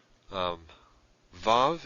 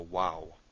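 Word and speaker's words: וו: Vav is V sound, as in van. Now historically it was probably a W sound, as in way. So often it is called a wow by people who work in Biblical Hebrew. So wow or Vav, either one.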